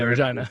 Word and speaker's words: Regina: Yeah, Regina.